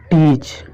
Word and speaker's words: teach: जैसे एग्जांपल हमारा पहला है टीच। TEACH। देखिए टीच मतलब होता है पढ़ाना, लेकिन देखिए ई के बाद यहाँ ए आया है इसलिए ये क्या है, चुप है, आपका साइलेंट है।